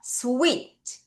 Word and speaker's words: sweet: SWEET. 자, 이가 두 개 있으니까 이 발음이죠? 이렇게 끊을게요. 발음 어떻게 해요? sweet.